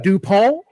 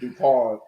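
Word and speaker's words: Dupont: The Vampire think just dup like that is not his name it's dupon uh before we get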